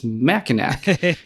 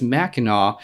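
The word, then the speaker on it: Mackinac: you're just like that's MAA and you're just like but why not just make the c a w so that people don't mispronounce it and it's like we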